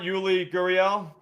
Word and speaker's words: Yuli Gurriel: But and then if you want Yuli Gurriel, did I say his name right, Jerry?